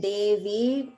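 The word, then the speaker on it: देवी: one okay good just make sure that you're chanting in davey that v is dirga it's a long vowel so don't make that v like a short i sound okay next part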